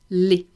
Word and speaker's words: laid: Laid. Laid. It is the sound e.